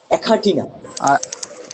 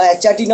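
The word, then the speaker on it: Achatina: অ্যাখাটিনা, আখাটি অ্যাখাটিনা। ক না কিন্তু খ হয়ে যাবে, অ্যাখাটিনা। আর চ হবে না, খাটিনা বা অ্যাচাটিনা অনেকে বলে, কিন্তু এটা সেটা ভুল উচ্চারণ হয়ে যাবে।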